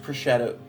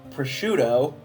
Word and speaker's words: prosciutto: remove innards stuffed with sage and finely age prosetto prosciutto that's how that's pronounced and boil and broil until golden brown